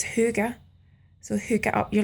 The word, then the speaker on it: hygge: it's the hy gge some people think it sounds like hug but from what I gather it's huger so hook up you're